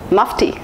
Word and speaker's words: Mufti: the list is musty Mufti it should be pronounced as Mufti Mufti is an Indian brand and most of the people think that it should be pronounced as Mukti it's not Mufti it's Mufti here's the next brand